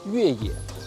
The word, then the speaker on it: Yueye: This little thing is called Yueye, aka Yep. Yep, that Yep. And it has the exact same pronunciation as off-road in Chinese.